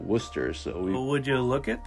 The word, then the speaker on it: Worcester: where is that right no it was actually named after Worcester England and over there they actually they pronounce it Worcester so would you look